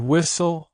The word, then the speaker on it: whistle: For example, listen, castle, and whistle all have silent T or silent S.